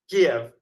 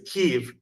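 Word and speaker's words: Kyiv: K right you know the old way of saying it was Kev and now the new modern Ukrainian way is keev and I go back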